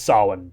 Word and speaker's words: Samhain: But or you just read it phonetically. It's Samhain, so there you go.